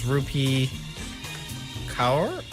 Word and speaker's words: Rupi Kaur: I think it's Rupi Kaur.